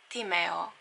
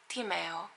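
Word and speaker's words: Tímea: I will try to find something similar, but if you think about it, it is like Tim plus air, but without an R.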